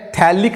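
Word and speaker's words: phthalic: ये pH silent रहता है, ये जो pH रहता है ना वो साइलेंट रहता है, तो इसको बोलते हैं थैलिक एसिड, लेकिन pH लिखने का थैलिक एसिड.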